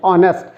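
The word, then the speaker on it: honest: ऑनेस्ट लिखा हुआ है, जिसमें एच क्या है अपने आप में साइलेंट है, आवाज़ किसके आती है, ओ की आती है, ऑनेस्ट, है ना।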